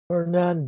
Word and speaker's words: Hernan: Hernan Diaz. Yeah, the accent is on the last syllable of Hernan, and the last name is Diaz, D-I-A-Z.